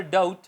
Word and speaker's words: doubt: T इन the word, अगर B T से पहले आ जाए वर्ड के एंड पर तो साइलेंट हो जाता है। For example डाउट, date, डाउट शक, DOUBT साउंड है मगर B नहीं बोला जा रहा, DOUT डाउट। इस तरह डेट है, डेबिट नहीं होगा, date, DET date, B silent रहेगा।